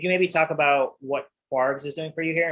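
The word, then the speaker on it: kwargs: Is it KWARs, Quargs? How is that spoken in industry? I pronounce it Quargs just because it flows a little better.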